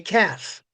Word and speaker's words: calf: C L and F with the L not being pronounced. It's not cow.